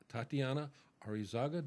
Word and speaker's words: Tatianna Areizaga: My guest for this segment is Tatianna Areizaga. Did I pronounce that right?